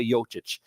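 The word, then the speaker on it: Jokić: is on right now Y yic is yic I gotta say it right Nik nicoa yic so you got free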